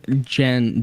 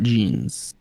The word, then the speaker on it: Jen: I do believe Jen is the way to pronounce it. Not Jeans.